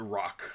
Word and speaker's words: Roc: It's the rook, isn't it? The rock. R O C. Rock. That's how you say it.